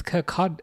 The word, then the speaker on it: Kirkcaldy: Kirkcaldy. It's Kirkcaldy. Yeah, I think the L is not pronounced from what I remember, but I think that's nearby.